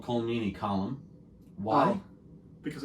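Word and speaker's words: Colm: think that's how they I should say this column yeah I mean that's how it's actually pronounced yeah I think it's right but with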